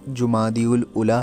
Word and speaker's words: جمادی الاولیٰ: مہینے کا ہے، اور اس کا جو تلفظ ہے وہ جمادی الاولیٰ ہے، نہ کہ جمادی الاول یا جمادی الاولیٰ۔ زیادہ تر ایسے پروناؤنس